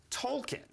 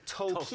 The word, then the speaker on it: Tolkien: But so they end up going to World War I to get Tolkien, of course, who wrote the Lord of the Rings books and the Hobbit novels.